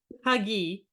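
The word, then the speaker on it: hygge: yeah it's very famous you pronounce it like hugi yeah hug H H very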